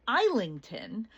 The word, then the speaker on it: Islandton: This was about 5 minutes from Islington, which was how the locals pronounced it. It was actually spelled on the sign Islandton.